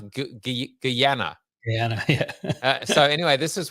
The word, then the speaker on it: Guyana: I was actually, by the way, trying to find cycling races in how do you even pronounce it? Guyana? Guyana, yeah.